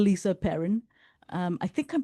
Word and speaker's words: Perin: um is called Lisa Perne. Um I think I'm pronouncing her last name right. It's P E R I N. Um so I think it's Perin and she's incredible.